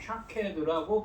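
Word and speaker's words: שקד: 예레미야가 본이 살구나무는 히브리어로 샤케드라고 합니다.이 단어는 앞에서 설명은 12절 말씀에 지켜로 번역된 단어. 그러니까이 깨어 있어 항상 지켜본다는이 단어가 샤카드의 본사형인데 이것이 샤케드라고 발음됩니다.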